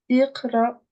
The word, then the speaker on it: اقرأ: La seule fois où ça va changer, c'est si là, j'avais une dama, là, j'aurais dit ou. Ok, d'accord. Du coup, là, c'est iqra.